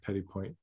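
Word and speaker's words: petit point: see it because yeah Petty point you might not pronounce the final T it would be Petty Point okay you guys got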